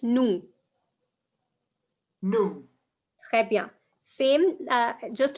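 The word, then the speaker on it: nous: you don't pronounce okay you don't pronounce s in the end okay it's just noo no same uh just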